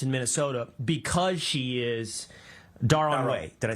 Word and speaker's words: Darod: Is Ilhan Omar advantaged in getting Somali votes in Minnesota because she is Darod?